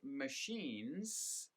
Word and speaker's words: machines: So if the word is machines, they will often just pronounce it as the singular form, machine, and they will forget to really stress that S at the end.